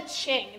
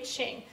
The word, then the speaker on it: Qing: that in a moment, called the Qing. That's how you pronounce that. Okay, Qing.